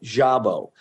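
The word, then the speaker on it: Szabo: I don't know why I said Sabo. That's okay. Most people do. Actually, to be honest with you, my name is should be S-Z-A-B-O and should be pronounced Jabo. That's the way it's pronounced in Hungary.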